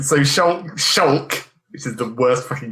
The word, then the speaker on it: Shulk: It's like, so Shulk, which is the worst fucking game name. Who came up with that shit? Shulk. It's pronounced more like Luke, though, so it's like Shulk.